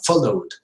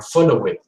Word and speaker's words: followed: Allowed, played, and followed. Never say allowed or played or followed. No, it is not an extra syllable. It is not longer. It is shorter.